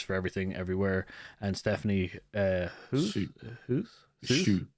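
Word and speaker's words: Hsu: Kerry Corden for The Banshee, Jamie Lee Curtis for Everything Everywhere, and Stephanie Shu. It's Shu, I think is how it's pronounced.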